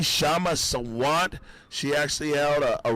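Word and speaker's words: Kshama: We got some clips from Kashama Sawant. You know, I keep pronouncing the K. I know. No one ever corrected me. Yeah, no, we tried to tell you. It's just Shama.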